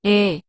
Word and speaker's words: 에: And the other is 에, 에. It is similar to E sound in the word episode.